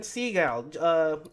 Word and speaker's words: Segall: Uh, you might have seen his YouTube channel over at Flux with Ran Segall.